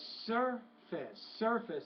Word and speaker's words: surface: Okay, I would say the stress is on more surface, so stress on that first syllable, not the second.